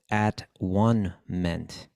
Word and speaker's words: atonement: be even close uh the word atonement was originally pronounced at one meant at one meant in